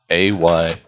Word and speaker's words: Ayrith: The name for the city is Irith. Ayrith. No, is this city the capital or the wharf or? Nope, this is the frontier town you have been in. Aerith?